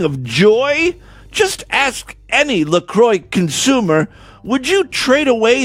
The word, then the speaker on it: LaCroix: we just love our Lacroix most people can't even pronounce Lacroix they think it's French by the way the